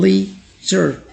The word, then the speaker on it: leisure: इसे भी लोग गलत पढ़ लेते हैं अक्सर, करेक्ट प्रोनाउंसिएशन कुछ इस तरह होती है लीजर, लीजर, लीजर।